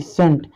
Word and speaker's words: scent: तो इसको हम स्कंट फिस्कंट नहीं पढ़ते हैं, इसको हम क्या पढ़ेंगे, सेंट।